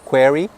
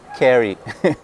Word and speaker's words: query: Você faz uma query para falar com o banco, não carry.